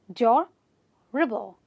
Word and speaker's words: durable: So this word has 2 syllables, which is durable, durable, durable, durable. So I will stress on the first syllable and say durable, not durable. A lot of people say durable. That's wrong. It's durable, durable, durable.